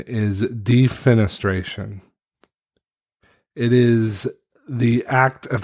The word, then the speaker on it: defenestration: to go back and edit the actual correct pronunciation is defenestration it is the act of throwing a person